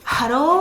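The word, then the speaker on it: ハロー: Bon bref, même hello, c'est pas hello. Hello. Et là ho avec un gros H. Hello Kitty par exemple en japonais, on dit hello Kitty. Hallo avec le haut allongé Ki.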